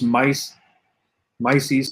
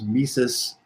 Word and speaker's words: Mises: converted you know this mice mice or i know his name is mises i mispronounce his name everyone makes fun of